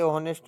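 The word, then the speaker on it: honest: एनी का प्रयोग यहां नहीं होगा क्योंकि ऑनेस्ट का उच्चारण स्वर्ण वोवेल से शुरू होता है।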